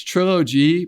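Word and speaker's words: TrillOG: And if you want to look it up, it's Trilogy, but it's spelled Trill O-G. Yeah. That's what I think is kind of clever. Yeah. Because people might be like Trilogy, but anyways, Yeah. Trill, Trill, and then OG, like like an OG gangster.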